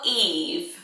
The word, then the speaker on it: Yves: Or Eve, spelled like this, the French way. I love the look of it, like Yves Saint Laurent.